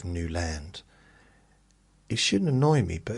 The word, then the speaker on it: Newland: Even at the doctors, they say Nuland, Nuland, instead of Newand.